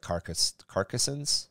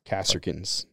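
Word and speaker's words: Kasrkins: Yeah, they kind of look a little bit more like Carcassons? Kasserkins. Kasserkins, thank you. Why do I keep thinking, because Kossark. Because you mispronounce everything.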